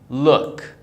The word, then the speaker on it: look: we have here is look look very easy the double-o are pronounced as oh look this is Luke the